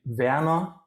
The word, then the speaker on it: Werner: Actually, Werner would be the proper German pronunciation.